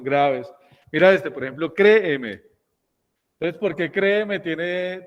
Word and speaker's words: créeme: Pero en el español tradicional uno dice, créeme. Sí, sí, sino que uno como tiene esa marca distintiva bayuna, si uno sale a ver, créeme. Pero no, la palabra se debería pronunciar ahí.